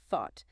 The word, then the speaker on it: thought: This highlights that crucial voiceless th sound again where your tongue needs to be firmly between your teeth with a clear airflow. Thought. It's a very common mixup with the S sound for many learners.